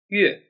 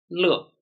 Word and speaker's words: 乐: To mean music, is pronounced as 乐. To mean happy, is pronounced as 乐.